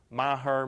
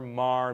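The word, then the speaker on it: Meagher: That last name is pronounced every way to Sunday. Maher, Mar, Meager. I've heard all of them. Yeah, Mir. There you go. I've come across where a pronunciation of his is Mar, M-A-R. That's how it's pronounced.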